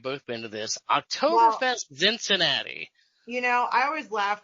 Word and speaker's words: Zinzinnati: It rhymes with Cincinnati. You are correct, sir. Mm-hmm. Oktoberfest Zinzinnati, which is why I